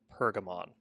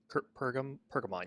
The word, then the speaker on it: Pergamon: I think it's pronounced Pergamon. Pergamon, yeah.